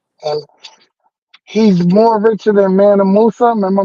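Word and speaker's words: Mansa Musa: young boy African and he's more richer than manam Musa remember manam Musa that's how you say his name yeah oh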